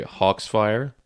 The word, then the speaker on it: Hawksfire: from did you say Hawks fire Cox Fire It's pronounced like Foxfire but it's just Hawks like a flock of birds hawks fire okay Foxfire